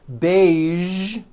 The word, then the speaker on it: beige: a few of these words are the color beige the word massage and the word Prestige okay